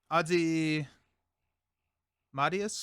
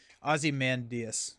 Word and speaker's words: Ozymandias: Ozymandias. Ozymandias. There's like an extra syllable in there that I'm not expecting.